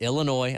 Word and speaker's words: Illinois: Bowl Carolina falling to Illinois no s Illinois I know I've been saying it wrong 21 to 17 and